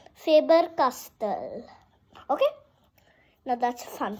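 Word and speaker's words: Faber-Castell: the actual name but you might call it favor castle but it's not that but I'm just telling you you can still call it but when somebody is asking you whatever the pronunciation you always say faber castell okay now that's a fun fact now for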